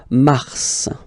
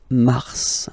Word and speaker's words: mars: So mars, pronounce the final S, mars, mars.